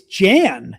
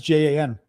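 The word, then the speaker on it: Jean: Well, John in French is, I think it's Jan, J-A-N, which is like a girl's name.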